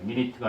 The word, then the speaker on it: minute: 우와, 이게 my 발음이 나요. minute가 아니라 minute 이렇게 발음이 돼서 minute 하면은 미세한, 섬세한, 미세한 겁니다.